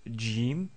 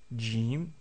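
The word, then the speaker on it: جيم: Ensuite, nous avons vu la lettre Jim, Jim, donc c'est pas exactement comme le G que nous connaissons en français, c'est un peu plus fort, donc c'est J, J, Jim, comme dans le mot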